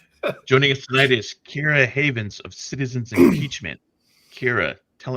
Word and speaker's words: Keira Havens: of Lights Out for hooking us up with Kira Havens and setting that up for us. Did I Did I just completely butcher the pronunciation of your name?